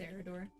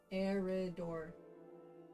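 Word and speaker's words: Eriador: It's Eridor. Why is there an eye in it then? Eridor. Okay, put a shadow in. It's just pronounced Eridor.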